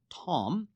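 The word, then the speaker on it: תם: The word blameless comes from the Hebrew word tam, pronounced tom, which means completely and usually morally pious.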